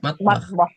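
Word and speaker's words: مطبخ: Matbahah. Matah matbah. Matbah. Oh iya matabah. Matbah. Jadi seperti ta ya bukan th matbah.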